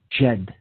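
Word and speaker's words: Djed: Jade pillar and this is spelled DJ edy Jed it's pronounced okay so this was a called the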